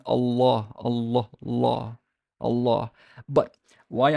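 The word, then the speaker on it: الله: If Allah is word initial, if you're going to start with it, it's like, Allah, Allahu, Allahu Akbar, Allahu Akbar. But if I'm going to say Bismillahi, la, it got soft.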